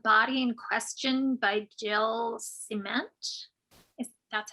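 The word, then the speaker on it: Ciment: And The Body in Question by Jill Cement.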